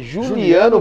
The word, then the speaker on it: Juliano: o meu nome é Juliano a minha pronuncia é com g mas a minha escrita é com j isso a Juliano aqui